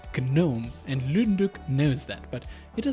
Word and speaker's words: GNOME: Deck, who are like, why is it GNOME? It's pronounced GNOME.